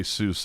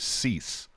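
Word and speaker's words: Suess: Ian saying that it's not CJ Seuss, it's CJ Cease.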